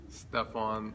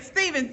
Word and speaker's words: Stephan: Where Is My Boaz, Stephan Labossiere. Stephan Labossiere. See, all this time I've been saying, Stephen, darn it, I tried to do it right. But I'm so happy. I've been following Stephan for a very long